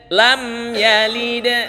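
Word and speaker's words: لَمْ يَلِدْ: t allahusad lam yalid lam yalid perhatikan di lamnya tidak boleh menahan suara lam Ah ini bacaan salah jadi bacanya lam ya langsung kenapa Langsung seperti itu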